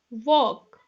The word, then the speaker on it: walk: Walk, talk, buck, sidewalk, stalk, moonwalk, cock. Look children here, A-L-K. L is there, but L is silent.